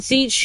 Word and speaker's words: Tzeentch: Yeah, and Tzeentch, who is hard to pronounce because his name is TZ blah blah blah blah blah. Yeah. Yeah. The T's are silent.